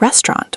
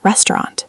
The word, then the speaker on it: restaurant: Another difficult one, restaurant. Very common challenge. Native speakers often pronounce it like restaurant or restaurant. Depending on accent.